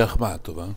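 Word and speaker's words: Ахматова: libro La sua vita io dico si dice ahmatova con l'accento li sbaglian tutti i cognomi non preoccupate È una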